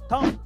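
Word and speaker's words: thumb: And last number four, अगर किसी word में एम के बाद बी आए तो उसमें बी साइलेंट रहता है, जैसे कि होम, बॉम, थम, डम।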